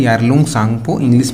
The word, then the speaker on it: Tsangpo: में से मिलते हैं शैंपू है यार लौंग सांगपो इंग्लिश में से लिंक पीटरसन को टीम जो है वह साइलेंट है पीपल से निकलने के बाद में